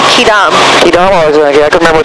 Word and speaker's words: Quidam: It's pronounced Quidam.